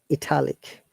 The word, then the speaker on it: italic: italy italy how about italic italic see it is changing the stress italic italy italic but italian let me listen to